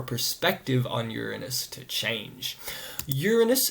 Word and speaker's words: Uranus: Uranus gets its name from an ancient Greek titan, the titan of the sky, Uranos, which is why I say Uranus rather than saying, well,